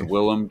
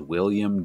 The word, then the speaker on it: Willem: um willem i was i'm like it should be william but it's willem well what the truth of the matter is where's this everyone says willem dafoe and then there was a clip of him when he was like 18 that surfaced it was like at his high school graduation or something and he's reading out his own name and he's like my name is william dafoe and then everyone's like